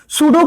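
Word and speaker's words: pseudo: सूडो का मतलब होता है, जो ये शब्द दिख रहा है तुम्हें सूडो, है ना, सूडो पी साइलेंट होता है, ठीक है।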